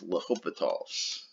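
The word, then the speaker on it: L'Hôpital's: and justify this by l'hopital's rule now you'll see the word lopat all written with or without the s it looks like l'hospital's but it's pronounced l'hopital's so i'll just say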